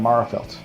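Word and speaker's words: Magherafelt: I was born in Marafelt. From Marafelt.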